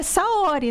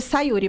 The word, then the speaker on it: Saori: Só que é Saori, né? E na minha cabeça, Saori é um nome fácil de pronunciar. Hoje eu sei que não é. As pessoas chamam a Saori de Sayuri, mas tudo bem.